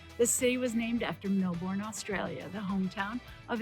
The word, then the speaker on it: Melbourne: where is she today it's a city we mispronounce a little bit don't call it Melbourne Viv goes to Melbourne I'm in Melbourne today another East ghost Beach